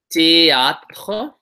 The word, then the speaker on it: théâtre: Next, you should do théâtre.